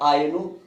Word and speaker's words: Ainu: और इनका शिकार यहाँ की एनु जनजातियों द्वारा, एनु या आयनु, AINU स्पेलिंग है, एनु या आयनु कहते हैं, एनु या आयनु जनजातियों द्वारा व्हेल का शिकार किया जाता है।